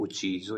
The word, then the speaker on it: ucciso: तुमने इसे क्यों मारा, अगर पास्ट में है तो ucciso, इस तरीके से हम इस वर्ब को प्रोनाउंस करेंगे।